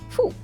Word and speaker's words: fou: O, U give us who, like in food. Example, fou, which means crazy. Example, fou.